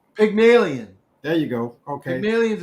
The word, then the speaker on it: Pygmalion: you're gonna help me for not help me pronounce this sure pagmalian pygmalion there you go okay millions an old character